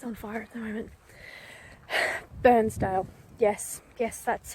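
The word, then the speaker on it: Bairnsdale: So I am almost in Sale, which is the town west of Burnsdale, which is the place that's on fire at the moment. Burnsdale. Yes, that's how you pronounce it.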